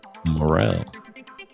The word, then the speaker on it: Morrell: mentioned it was Kip Morrell, and hopefully I pronounce it like Morel, like the mushroom, but it's spelled different.